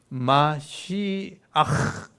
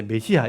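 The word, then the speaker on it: משיח: 그래서 마시 이렇게 하거든요. 근데 이게 우리나라 발음이 잘 안 돼. 그래서 이제 메시아 이렇게 하고 있는요. 그래서 메시아라는 말 쓰죠. 마시아 이렇게 해야 되는데 이런 발음이 안 되니까 보통 우리가 메시아 이렇게 보통 읽어요.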